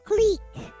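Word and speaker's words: clique: So, I learned yesterday from uh Logan's stream that the word C L I Q U E is actually pronounced as click.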